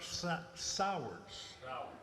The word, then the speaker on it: Sowers: my name is Sowers Sauer that's all right most people mispronounce that just it rhymes with cowards all right get kind